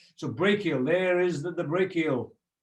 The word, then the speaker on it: brachial: brachial there is the brachial so it's pronounced brachial or break e al and then to help